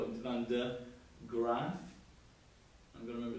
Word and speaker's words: Van de Graaff: can say this was the Van, it's sometimes it's spelled der, D-E-R, but we're going to call it Van de Graaff.